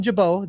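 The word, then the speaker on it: Gibaut: Martin, Buck Farmer, Ian Jabot, the T is silent, and then, of course, Jeff's favorite pitcher in the world, Hunter Strickland.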